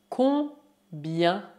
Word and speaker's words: combien: Combien? Combien? Lembro que a combinação I mais E mais N colocada no final de uma palavra se pronuncia yan e não yan. Portanto, dizemos combien, combien et non combien.